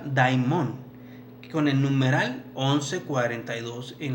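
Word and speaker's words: δαίμων: Demonio se pronuncia daimon, con el numeral 1142 en la Strong Concordance, que quiere decir un espíritu condenado, un espíritu juzgado.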